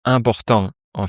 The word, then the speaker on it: importante: Il faut que chaque lettre soit prononcée distinctement.